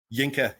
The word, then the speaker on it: Yinka: Hello, Inka. Thank you very much. I pronounce it right? Yinka, yes.